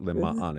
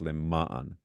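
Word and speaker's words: למען: Except the emphasis on the mem. So it's not Lema'an, it's Lema'an.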